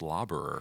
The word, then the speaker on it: Laberer: here by Mr laborer how you doing today I'm will uh so my last name's actually pronounced lobber fun fact wow I